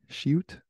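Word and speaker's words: sheut: everywhere was the shoot it's spelled s-h-e-u-t so shoot I'm thinking it's called and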